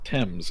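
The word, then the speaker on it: Thames: tell you the word the word tames is pronounced TS in both the UK and in the US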